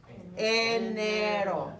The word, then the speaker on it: enero: Enero.